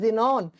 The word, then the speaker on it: Xenon: X ray से बनता है जिनॉन, XENON, इसको प्रोनाउंस करते हैं जिनॉन, सिंबल होता है XE।